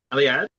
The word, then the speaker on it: Eliade: Eli- Eliade?